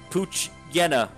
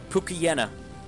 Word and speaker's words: Poochyena: the mispronounced name Pokemon oh it's Poochyena not another mispronounced a cookie jana Poochyena there we go Poochyena Pookie Jana is